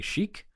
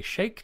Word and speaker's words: Sheikh: I used to say Sheikh, but now I would say Sheikh.